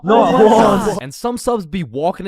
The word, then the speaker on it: Juwan: That's just how it's pronounced. Juwan? Is there Juwan in the room? It's Juan. No, Juwan.